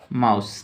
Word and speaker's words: mouse: MOUSE, एम से म, OU से आकार और हर्षव, एस से स, माउस। कैसे हमने लिखा माउस, ई का उच्चारण नहीं करेंगे।